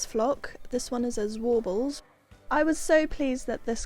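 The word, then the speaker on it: Zwartbles: It's Warbles. It's Warbles.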